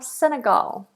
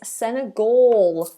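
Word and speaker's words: Senegal: know where it is oh sorry my mistake it's senagal or a vow which causes problems for many of my students um or senagal senagal um the correct way to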